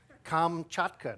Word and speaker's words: Kamchatka: come here you have to be able to pronounce it right kamchatka now all after me oh gesundheit but in